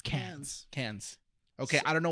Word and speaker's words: Cannes: No, I want to know how it's spelled. How's Cannes? CANNIS? Yes. No. ES. Yes. So Say- Cannes? see- yeah, it's Cans.